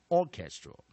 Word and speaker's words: orchestral: gasCats, cats，而第三个音节弱音节，直接在 a 的地方补上弱母音，a, all, draw, orchestral, orchestral, orchestral。OK，来，我们再来做最后一次练习。All our syllables c h e s syllable g r a l second stress first syllables.Main stress, second syllable.